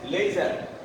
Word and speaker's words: laser: R sound is omitted here, laser, and not laser.